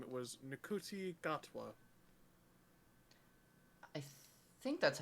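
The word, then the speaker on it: Ncuti Gatwa: oh it's a fancy little Bumbo uh it's juti gotwa yeah yeah that's kind of what I just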